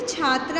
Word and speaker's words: छात्रः: ये बेटा आगे जो विसर्ग लगा है इसे हाँ की आवाज़ निकालते हैं जब इसे पढ़ते हैं, तो क्या है ये? छात्रः।